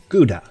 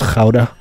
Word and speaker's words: Gouda: I never tire of telling people it's technically pronounced Gouda, and then watching them try to pronounce Gouda. It's Gouda. It's Gouda. Gouda. Sounds like you're hacking up a lung.